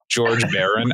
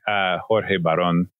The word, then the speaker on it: Jorge Baron: George Baron. I mean, I know how to pronounce it. I speak Spanish, but I know you do. George Baron. Just kidding. Jorge Baron from the Northwest Immigrant Rights Project.